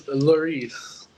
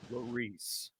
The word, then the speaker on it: Lherisse: How do we pronounce the last name, buddy? It's Lherisse. Lherisse.